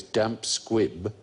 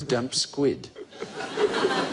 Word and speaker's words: damp squib: most common misquote is mispronouncing the phrase damp squib as Dum squid thought yeah it was